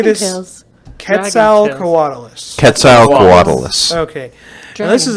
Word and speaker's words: Quetzalcoatlus: It's a Quetzalcoatlus.